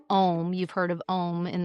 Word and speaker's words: Om: Three parallel lines spelling out the syllables AUM, which you might know as Om.